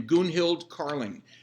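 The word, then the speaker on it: Gunhild Carling: a gal on facebook i think she pronounces her name goon hild carling she's swedish and she played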